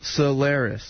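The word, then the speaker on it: Cylaris: They said, tell them it's pronounced Solaris.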